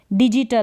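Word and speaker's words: digital: तो यहाँ पर ई आ रहा है ये, तो जेंडर पढ़ दिया, यानी जी को ज प्रोनाउंस किया। डिजिटल है, यहाँ पर क्या है, डिजिटल, तो जी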